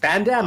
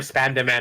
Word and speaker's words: Spandam: It's Like, Spandam or Spandaman. I was like, It's- wait, am I saying it wrong? Bro, it's Spandam.